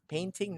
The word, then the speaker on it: painting: with the word painting don't forget it's painting that pen thing okay let's go with